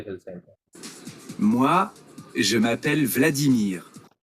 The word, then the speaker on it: Vladimir: ভ্লাদিমির না তো, এটা ফ্রেঞ্চে উচ্চারণ করতে হবে, ভ্লাদিমির, ফ্রেঞ্চ স্টাইলে বলে। Vladimir, ভ্লাদিমির, ওকে। Vladimir.